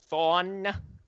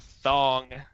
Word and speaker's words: Thon: on Instagram at Thon, as in Eobard Thon, not Thong, as it's been previously mispronounced here.